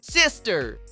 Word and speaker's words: sister: O som inicial é sex como o som inicial da palavra em português sexto e o som final corresponde a ter, sendo necessário enrolar a língua na letra R, sister.